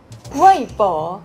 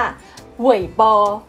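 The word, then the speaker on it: 微博: อัน นี้ อุ้ย ป๋อ weibo หรือ บาง คน อาจ จะ ออก เสียง ว่า เว้ย ปอ ก็ มี ห้วยบ่อ เว้ย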